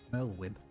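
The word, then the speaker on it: Merlwyb: And I've only just figured out how to say the Admiral's name, Merlwib.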